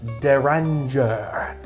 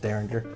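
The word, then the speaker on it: Rabbit Hole Derringer: i can dig on that starting with rabbit hole deranger i said it fancy like it's actually pronounced derringer i got it on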